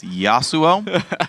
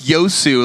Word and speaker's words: Yasuo: doesn't know very well though is how to pronounce the name Yasuo it's Yasuo probably otherwise though I got to say he's